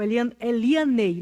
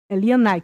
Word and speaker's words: Elianai: O Elianei, não é isso? Elianai? Elianai, que se pronuncia, né?